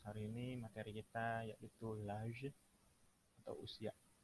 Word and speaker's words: l'âge: Bonjour à tous, hari ini materi kita yaitu l'âge atau usia.